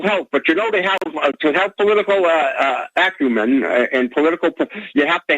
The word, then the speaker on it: acumen: heard the terms political acumen? I know you have political acumen and political perspicacity. It's acumen. You're putting the emphasis on the wrong syllable.